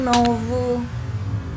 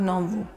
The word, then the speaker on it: nove: To pronounce the word nine is nove. Nove, Nove. not novo. Not novo. Novo means new.